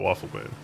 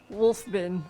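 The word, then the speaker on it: Wolfe Bin: It's not Waffle Bin. I said hello anyway. I just mispronounced it once a long time ago, and I will have to remember that forever. What is it? Well, Wolf Bin. Oh, it's oh yeah, W-O-L-F-E. Wolf Bin. Wolf Ben.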